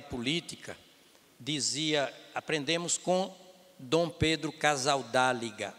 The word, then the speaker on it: Casaldáliga: Nós aprendemos, não é, que ética na política, aprendemos com Dom Pedro Casaldáliga, ou Casaldáliga, né, pronunciando em espanhol, que foi durante muito tempo bispo de São Félix do Araguaia.